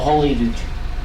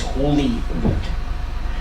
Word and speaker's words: Holyrood: It's not Holyrood, it is Holyrood.